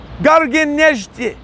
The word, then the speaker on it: Garegin Nzhdeh: Garegin Nzhdeh.